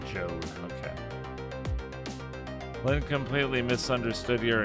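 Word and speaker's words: Jowd: him as evil oh it's pronounced Joe okay I'm completely misunderstood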